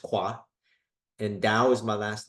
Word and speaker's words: Khoa: My middle name is Khoa, pronounced Kwa, and Dao is my last name, Dao.